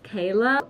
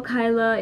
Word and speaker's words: Kyla: name is kyla yes it is actually pronounced as kayla um you can call me kayla or kyla it doesn't matter i